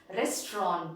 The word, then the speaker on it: restaurant: the next one restaurant it is not restaurant it is restaurant and what does that mean a place where food is prepared and served to customers this is known to us right but it is known to us in a different world we say restaurant isn't it don't we do this it is actually restaurant restaurant that is the correct pronunciation the next one is